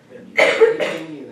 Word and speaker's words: venu: Venue. It's the past participle. What's the past participle of the verb to come? Say it in French. How do you pronounce silent E? You don't.